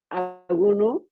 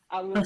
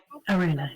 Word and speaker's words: Ara: and to you see Aro am I saying it correctly your name ARA sorry ARA yes that's okay so I